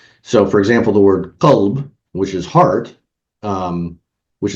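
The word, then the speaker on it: قلب: So, for example, the word qalb, which is heart, um, which is basically QLB, to simplify it. If I just pronounce it qalb instead of qalb altogether, it means he flipped.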